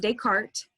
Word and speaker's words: Descartes: it's probably a name you've heard before it's pronounced Descartes he was a French philosopher and mathematician he